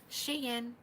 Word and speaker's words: Shein: Shein, and I can say that and say it with confidence because one of you ladies told me that's the correct pronunciation.